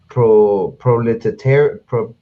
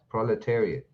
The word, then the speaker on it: proletariat: a traditional symbol of pro-proliferation riot i i guess that's how you pronounce it i know i slaughtered that proletariat oh proletariat proletariat yeah it's a symbol of